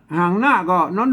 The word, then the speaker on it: กัน: ไม้ หัน อากาศ ก็ น้อง หนู ใช่ มั้ย อ่า เนี่ย เห็น มั้ย อ่าน ว่า กัน นะ ครับ ไม่ ใช่ คน ทั่ว ไป มา อ่าน ว่า คัน นี้ มัน บ่ ถูก นะ ครับ อ่าน ว่า กัน